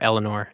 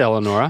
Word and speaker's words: Eleonora: middle name Eleanor Eleanor everybody's calling her Eleanor I said Eleonora yeah you said it right I'm just correcting all the people that are in their cars right now calling her Oh Eleanor hmm Eleonora Lynn Lynn Smith Smith